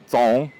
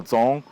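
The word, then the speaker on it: 樁: O primeiro grau ou nível de energia, nós chamamos de JONG que é mais popularmente pronunciado como "jong", J-O-N-G. como em Muk Yan Jong. mas o som, mais próximo do cantonês seria "tzong" Então, o primeiro grau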